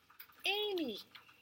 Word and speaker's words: Amy: Does it sound like it's spelled with a Y? What sound does Y make? Yes. Great job. Does it make the E sound? No, what normally makes that sound? An E. So that's why we call this an irregular word, because it's not spelled like how it sounds.